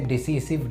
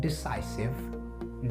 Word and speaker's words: decisive: ये डिसीजन से बना होता है, लेकिन इसे डिसीसिव नहीं पढ़ा जाता है। इसका सही प्रोनाउंसिएशन होता है डिसाइसिव, डिसाइसिव एंड डिसाइसिव।